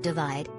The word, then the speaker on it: ÷: in the four-plus years since the release of his divided by album pronounced divide ed sheeran married longtime sweetheart cherry seabourn welcomed their first child daughter lyra and turned 30.